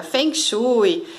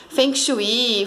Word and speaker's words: Feng Shui: E muitos perguntam, né, como que é a pronúncia certa, Feng Shui, Feng Shui, Feng Shui, como você quiser.